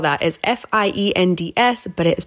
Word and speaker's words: Best Fiends: got to download best fiends and how you spell that is f-i-e-n-d-s but it is pronounced fiends this is a